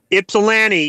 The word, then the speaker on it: Ypsilanti: Is that how it's pronounced? Ypsilanti.